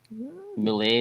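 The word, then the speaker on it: Moule: to be pronounced well it's Mo it's actually because my great-grandfather was French mle is actually French for mus you know and it's funny that's kind of similar to my last name it's mle in this case there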